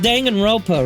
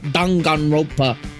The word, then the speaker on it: Danganronpa: I remember, it's pronounced Danganronpa, right? But the direct narrator pronounced it really weird. It was like Danganronpa.